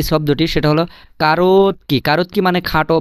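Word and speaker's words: короткий: আচ্ছা, তারপরে যে শব্দটি, সেটা হলো কারোতকি। কারোতকি মানে খাটো বা শর্ট বা সাইজে ছোট বা বেটে, আপনি যেভাবে বলতে পারেন, কোনো সমস্যা নাই। কারোতকি মানে কি?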